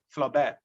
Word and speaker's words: Flaubert: his masterpiece and gustav flaubert spelling g-u-s-t-a-b flaubert f-l-a-u-b-e-r-t in french the last consonant is most of the time is silent flaw bear then we have the